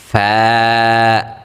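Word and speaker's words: ف: গইন, ফা, ফা, ফা উচ্চারণের ক্ষেত্রে আমরা কি করব, উপরের যে আমাদের দাঁতগুলো রয়েছে সেগুলোকে আমরা আমাদের নিচের যে ঠোঁট রয়েছে সেই ঠোঁটের পেটে লাগিয়ে দিব, অর্থাৎ ঠোঁটের যে ভিজা অংশটা রয়েছে সেই ভিজা অংশে আমরা লাগিয়ে উচ্চারণটা করব। তাহলে কিন্তু আমাদের ফা উচ্চারণটা একেবারে পারফেক্ট সুন্দরভাবে হয়ে যাবে।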